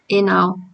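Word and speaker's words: ianao: And we don't pronounce it like it is written, because ia, we pronounce it e now.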